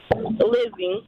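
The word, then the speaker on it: Lizzie: oh it's how do you say your name Lizzy Lizzy l i z z i e yes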